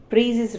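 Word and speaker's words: Précis: So what is this Precis writing can be pronounced as Precis writing. Usually we pronounce it as Precis writing, and S would be silent.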